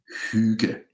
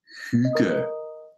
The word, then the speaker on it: Hygge: The word itself, Hygge, is pronounced Hygge. And feel free to try to pronounce it with me. I'm going to say it four or five more times here now. Hygge.